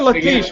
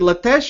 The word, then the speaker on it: Latesh: is it lates or laes are we pronouncing your name incorrectly is it lates or Lees no it is lates you are right it is lates lates okay yeah uh for